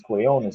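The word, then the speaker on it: Quiñones: That's what his name is, Quinones. I didn't even know how to pronounce his name.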